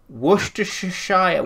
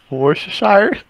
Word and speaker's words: Worcestershire: Worcestershire, what did you just say? Worcestershire?